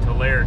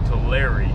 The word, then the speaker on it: Tulare: I've been saying Tulare, California, but it's actually Tulare, California.